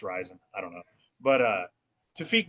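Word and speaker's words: Rizin: I don't know if it's rising. I say risen. It's probably wrong. I think it's actually supposed to be pronounced rising.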